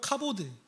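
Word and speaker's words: כבוד: 어디서 왔는지 아세요 로 카보드 우리말 뜻으로 1차 의미로는 갑옷입니다 그래서이 단어를 외울 때 되게 좋았어요 카보드 갑옷 히브리어에 종종 이런 단어가 있습니다 히브리어 단어와 한국어 발음이 유사한 단어 그 중에 하나요 갑옷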